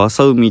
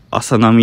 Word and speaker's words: 浅海: 最初浅海って読むんかなって思ってました。浅波って読むんやね。